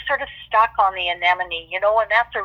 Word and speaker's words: anemone: of stuck on the anemone you know and that's a really big word I said oh but such a great word that enemy rhymes with anemy so I was I